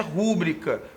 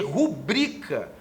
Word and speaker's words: rubrica: Mas a palavra rúbrica não tem acento, porque não existe a pronúncia rúbrica como proparoxítona. O que existe é rubrica, numa pronúncia paroxítona. E termina em A, portanto, rúbrica está errado, tanto com a acentuação quanto com a pronúncia.